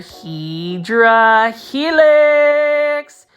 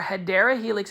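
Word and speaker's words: Hedera helix: got to see this this is another HRA helix or hadera Helix is the correct way to say English ivy this is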